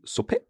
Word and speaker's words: Suppe: We have a shorter one, and for example, Suppe. Suppe, so that's soup, which I am planning to have for my lunch after this episode.